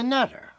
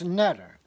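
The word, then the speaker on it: neter: what we call the netter, N-T-E-R. The main letters are N-T-R. The E is put in the vowel so we could pronounce the word. You couldn't pronounce N-T-R. So we can pronounce netter, and that way we can communicate with it.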